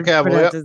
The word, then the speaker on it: Cavill: Yeah, Henry Cavill.